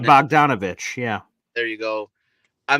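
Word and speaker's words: Bogdanović: I can't even never pronounce his name. Bogdanovich.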